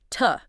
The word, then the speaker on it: to: Yes, the fourth point is about mastering weak forms, specifically the weak pronunciation of tu as tuh. That too. Right, tuh.